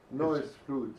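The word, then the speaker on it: Noye's Fludde: Benjamin Britten's, how do we pronounce it, Ricardo? Neue Fuddle? Noise flute, yeah. Yeah, noise flute.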